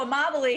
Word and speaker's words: Amabile: cutest guys i've ever seen we have joe immobility here how you doing joe good how are